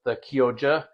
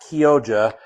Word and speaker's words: Chioggia: So I actually don't mind the Kyoja, and that's how it's pronounced. It's pronounced Kyoja, but it's spelled Chioggia. It's Italian, so it's pronounced Kyoja.